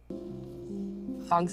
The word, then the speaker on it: Fong: Fong. I have brain Fong. fog. Can you spell it? F-O-N-G. Okay. Like song.